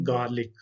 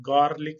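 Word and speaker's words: garlic: इसको कहते हैं गार्लिक। तो आर को साइलेंट करके ही पढ़े तो ज्यादा बेहतर है, गार्लिक नहीं आपने कहना, इसको कहना है गार्लिक।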